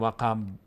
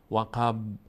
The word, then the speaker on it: وقب: ا و ا و ا و و ا وقب با اینجا باز قلقله میشه مقداری در مخرجش میرز نمیگیم وقب وقب نه وقب زیاد حرکت نمیدیم که زیادم نمی